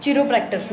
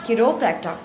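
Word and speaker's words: chiropractor: ठीक है, किरोप्रैक्टर, इसके प्रोनाउंसिएशन याद रखना, वैसे एक्चुअल में लगता है चिरोप्रैक्टर, नहीं, किरोप्रैक्टर, किरोप्रैक्टर, किरोप्रैक्टर, किरोप्रैक्टर।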